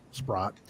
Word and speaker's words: Spratt: Renee asked the entity, she goes, we have permission from Alexis Spratt, because now it's pronounced Spratt. Back then it was Sprott.